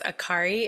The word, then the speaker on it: Akary: I'm really excited because Aari is here. Am I saying it right? Yes, you are.